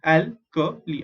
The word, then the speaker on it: alkali: How do you pronounce the word alkali? Al is al, K is Ka is Ka, Li is Li, alkali, alkali metals.